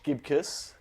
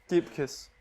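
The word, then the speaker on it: Gibcus: um but uh Josh Josh gibus torn ACL pronounced dipus wa boy so thoughts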